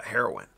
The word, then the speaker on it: Haroun: the way is pronounced my last name it's pronounced heroin yeah okay okay um